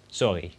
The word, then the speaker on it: sorry: is very simple sorry which is spelled exactly the same as the English sorry but said with a slightly more raspy are I suppose sorry you can also say